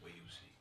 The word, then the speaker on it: Wiyusi: G2 Yeah, said, pardon me, I mispronounced his name. It's Wiyusi.